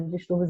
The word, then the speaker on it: distúrbios: Porque a sílaba tônica ela está localizada na penúltima sílaba, que é aqui no tur, como vocês podem observar.